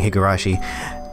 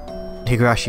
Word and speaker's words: Higurashi: at Higurashi like it I just feel like you're saying hey gurashi Higurashi is not the place if you're new I've been saying it wrong hey yo she's not